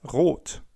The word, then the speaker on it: rot: Red in German is rot w.